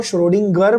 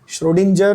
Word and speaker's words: Schrödinger: बहुत सारे टीचर भी इसको श्रोडिंगर बोलते हैं, जो एक्चुअली सही नहीं है। श्रोडिंजर इज the correct pronunciation, okay बच्चों, बट ठीक